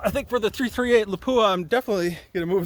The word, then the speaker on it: Lapua: All right, so on the left there is 6.5 Creedmoor, and on the right is 338 LAPUA. That's how they actually pronounce it. LAPUA.